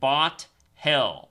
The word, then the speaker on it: Bothell: Bothell is spelled like bot hell. Bothell.